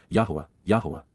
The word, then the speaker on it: Yahowah: be familiar with and respect, Hyphal imperfect Jussive, Yahowah, the proper pronunciation of the name of Eloah, God as